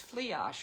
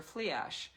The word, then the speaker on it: Flidais: I looked them up, but her spelling does not give any indication of how you pronounce her name, and it is Flidais or Fliash, and she is the Celtic goddess.